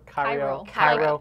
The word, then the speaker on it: Cairo: Cairo. Like Cairo, Egypt.